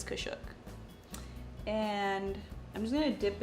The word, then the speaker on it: Kashuk: I think that's how you say it. Kashuk, something like that. Doesn't even have the lettering on it anymore because I use it that much. It's Kashuk.